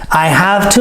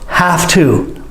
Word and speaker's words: have to: But listen to how I say it. Have to. I cheat. Have to. Actually, I make the F sound instead of the V sound because that's how we say it normally.